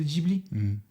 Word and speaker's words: Ghibli: Ghibli, pardon. Et là, je sais que ça se prononce Ghibli, comme c'est écrit Ghibli, mais quand c'est arrivé, je crois qu'on posait tous.